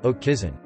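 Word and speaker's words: haute cuisine: exploration by christopher columbus oak cuisine pronounced oak kison high cuisine has foundations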